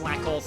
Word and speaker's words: Slakoth: I know that a lot of people say that it should be pronounced Slackoth because it's like a pun on Slackoth, but I always call it Slakoth.